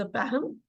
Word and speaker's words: Pahom: First is द पैहम। आप पैहम को दो तरह से उसकी स्पेलिंग लिख सकते हैं, PAHOM और PAKHOM। पाहम प्रोनाउंसिएशन है।